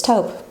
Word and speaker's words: taupe: some people say well how do you say that top tape hooked it's taupe it's taupe I'm no English major but pretty sure it's tote this is the perfect shade